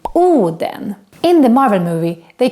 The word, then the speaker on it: Oden: on to other characters tush papa is the famous odin but in swedish we call him oh then in the marvel movie